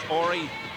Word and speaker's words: Horry: Off the solid rookie year is Horry. He spells it H-O-R-R-Y, silent H.